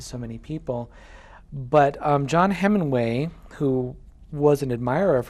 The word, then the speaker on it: Heminway: This is a book called In Full Flight, A Story of Africa and Atonement by John Heminway, not Hemingway, Heminway.